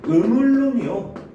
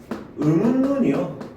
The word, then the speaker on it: 음운론: 음울눈이요 이라고 발음하는 친구가 있고요. 음운눈이요 라고 발음하는 친구가 있어요. 첫 번째 같은 경우는 뭘? 유음화를 일으켜서 발음을 하게 된 거죠. 유음화. 두 번째 경우는 리을의 비음화를 일으켜서 발음을 하게 된 것이 되겠죠.